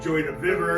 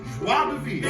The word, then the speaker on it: joie de vivre: It's got joy de vivre. That's pronounced joie de vivre.